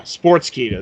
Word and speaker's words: Sportskeeda: Yeah, Sportskeeda.